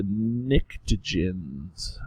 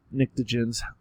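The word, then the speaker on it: pnictogens: is also called the nicens the p is silent nicens okay and so um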